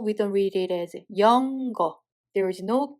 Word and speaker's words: 영어: For example, 영어. First syllable has a 여 sound vowel and sound Batchim, so we read it as 영. And the second syllable, there is a circle which has no sound value and there is a sound vowel, so we read it as 어. So together we read it as 영어.